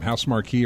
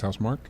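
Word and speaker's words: Housemarque: Soros was shown off and that is uh you know I don't know if they pronounced their name House Marquee or House Mark. I think it's House Mark.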